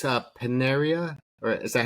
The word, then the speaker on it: Panerai: Hey, so it's a Paneria or is that how you say it? Panera. Panera. There you go. Panera is where you go get a a bagel.